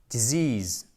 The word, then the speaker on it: disease: Attention, accent tonique, vous l'avez noté, j'en suis sûr, sur cette combinaison de deux voyelles. Ill, sick, disease.